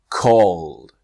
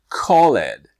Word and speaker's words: called: of regular past verbs this is when the E just disappears right so called not Khaled or arrived not arrived